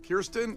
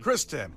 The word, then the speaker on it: Kristen: Is it Kristen? Kristen. Oh. I looked at it and I thought I said Kirsten because with Kirsten's, if you say... They're spelled the same. No, because Kirsten is K-I-R, but this is a little small.